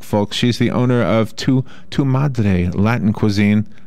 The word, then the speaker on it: Tu Madre: She's the owner of Tu Madre Latin Cuisine.